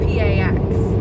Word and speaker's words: pax: in the Roman days, peace was actually spelt P-A-X, which sounds phonetically like pax, which is why we